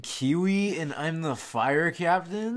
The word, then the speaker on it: Kiawe: My name's, like, Kiwi, and I'm the fire captain? We know it's pronounced Kiawe, or whatever. It's Kiwi.